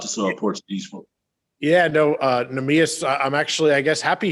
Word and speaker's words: Neemias: Monty, the Portuguese, Neemias, I hope I'm saying this pronounced. Neemias.